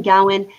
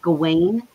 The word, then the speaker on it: Gawain: gawan's life because and and and i'm saying gowan it's often pronounced gawain but i have trouble saying that because i